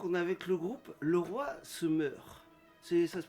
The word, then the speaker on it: Leroy se meurt: Et donc, on est avec le groupe Le Roi se meurt. Ça se prononce comme ça, non?